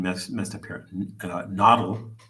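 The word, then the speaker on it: Nahuatl: Nashi said, um uh I always get the pronunciation mess messed up here. Nodle. Nodle.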